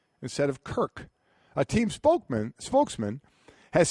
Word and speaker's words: Kirk: uh the team's website he kept calling him Kurt not Kirk with a K but Kurt with a t